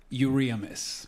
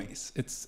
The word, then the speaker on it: Euriamis: Euriamis. Euriamis. Well, in Spanish, it's Cuban. Euriamis.